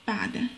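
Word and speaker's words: بعد: So we will pronounce the first two letters together, which are ba and ayn, so it becomes like that, ba, ba, okay.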